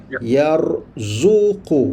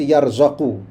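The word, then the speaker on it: يرزق: ya wajib baca yakfuru razzaqa mesti fi'il mudhariknya baca yarzuqu mesti baca gitu fix bacanya itu kamus akan bagitahu boleh rujuk kamus nanti dia memang macam tu razaqa fi'il mudariknya mesti yarzuqu ada orang kata boleh baca yarzaqu y boleh tapi tak ada makna sampai tu sekali tidak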